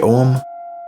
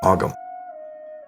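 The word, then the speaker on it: Ogham: The earth path triad is the om animal wisdom and sustainable living. The basic foundation for the earth paths is the Celtic tree alphabet known as om or sometimes pronounced augum.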